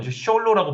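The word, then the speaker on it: Xolo: 그다음에 멕시코에서 기원한 숄로 이건 숄로 발음합니다 스페인어로 그 멕시칸 솔로가 있어요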